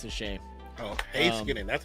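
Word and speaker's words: Heiskanen: Oh, Hayskinen.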